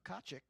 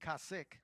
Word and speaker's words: Kaczyk: 95 of uh marco kaczyk excuse me kassick i'm sorry i was corrected on the pronunciation of that yesterday by marco's dad so marco kasich from kelowna british columbia